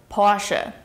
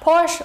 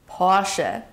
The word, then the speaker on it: Porsche: This brand right here is pronounced Porsche. Not Porsche or Porsche, but Porsche.